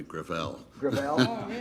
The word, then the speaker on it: Gravel: it within my family gravel it's a french name thank you i want